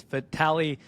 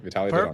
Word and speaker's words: Vitalii: the beginning, but I'm going to try to pronounce it. You're going to correct me when I get it wrong, but it's Vitali. Yes, perfect. Vitali.